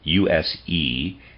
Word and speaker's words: Usedom: At one time, Bismarck had a connection with a certain Usedom, and that's, readers aside, that's spelled U-S-E-D-O-M, I'm going to pronounce that Usedom, end of readers aside, in Florence and Turin.